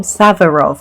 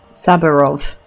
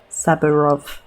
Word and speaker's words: Saburov: It's really hard to pronounce Saburov. Saburov. It's not even like hard because it's Russian. It's just hard because like to pronounce the B sound there when there's a when there's an R right there.